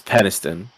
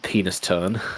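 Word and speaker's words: Penistone: And then there's Peniston. Just ass. Which funnily enough isn't penis tone.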